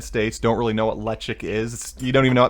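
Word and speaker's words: Ledaig: in the united states don't really know what electric is you don't even know most people don't know how to pronounce it it's uh you know spelled l-e-d-a-i-g which you think ladain but it's electric it's uh it's a peated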